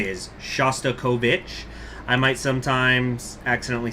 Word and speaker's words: Shostakovich: pronounce Russian names, even though his name is pronounced Shostakovich, that's my understanding is the correct way to say it is Shostakovich. I might sometimes accidentally say Kovic, or Shasta Kovic.